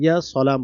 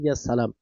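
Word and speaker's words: يا سلام: শুদ্ধ করে ইয়া সালাম বলবেন, ইয়া সালাম সিন উচ্চারণ করবেন।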